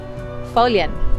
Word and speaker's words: Foillan: it means of the folian don't be confused by the way that it's spelt folian means gull so